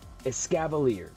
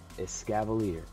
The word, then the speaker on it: Escavalier: gonna pull it out here i could not pronounce the name of it escavalier i looked it up for you guys because i felt really dumb as scava leader so if i pull him again not getting